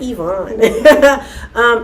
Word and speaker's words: Yvonne: her, by the way, where I'm from, we pronounce that word. Her name, Yvonne. But, she says, I'm Yvonne.